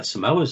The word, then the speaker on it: Samoa: That's where the Samoas are from.